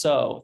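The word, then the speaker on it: sew: So, okay, it's pronounced so. That's what I said. It's S-E-W, so.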